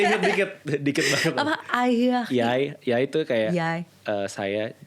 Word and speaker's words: jeg: Hi, jeg hedder Nito. Masih inget dikit banget. Apa? Ayah. Yai itu kayak saya. Tapi tulisannya JEG, tapi bacanya Yai.